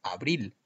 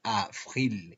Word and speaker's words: avril: No se puede decir abril. Habría que pronunciar avril y es importante marcar el sonido v. Para marcar el sonido v, podemos colocar nuestras paletas en el labio inferior y pronunciar avril.